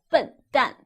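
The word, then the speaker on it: 笨蛋: you be an idiot you will be a butt done let me give you one more example if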